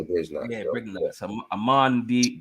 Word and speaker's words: Brignac: Some people pronounce the G, some people don't. They say Brignac or Brignac, but I just say Brignac.